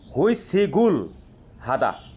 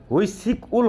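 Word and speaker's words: 회식을 하다: আচ্ছা দেখেন তাহলে এক নাম্বারে দেওয়া আছে কি হুই সিগুল হাদা, হুই সিক উল হবে না, হুই সিগুল হাদা মানে কি কোম্পানির পার্টি করা।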